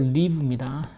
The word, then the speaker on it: live: live가 아니고 live입니다.